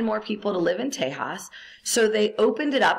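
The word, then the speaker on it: Tejas: story about that so Texas once belonged to Mexico it wasn't pronounced Texas it was pronounced Tas and Tas was land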